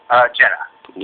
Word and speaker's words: Jenna: Do you know how to pronounce, is it Gina or Jenna? Jenna. Jenna, okay.